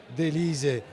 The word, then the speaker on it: Delise: Salutiamo Chiara Pinato Gabrieli, che ci segue proprio da Trieste e che ci dice che Delise si pronuncia come si scrive.